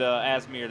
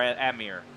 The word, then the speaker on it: Amir: had some contact there with asmir there or Amir air I always say his name wrong I was about say you add that s every single week three three and four